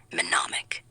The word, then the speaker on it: mnemonic: Next word, mnemonic. MNEMONIC. Did I get the silent letter this time? Yes, that's perfect. The first M is quiet, then NEMONIC.